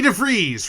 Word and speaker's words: DeVries: And we were very lucky to get to see the wonderful, the incredible Vicky DeVries, Rhymes with Cheese.